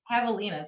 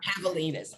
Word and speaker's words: javelina: say that javelin i have those in vegas javelinas yeah javelinas okay i saw one when i was there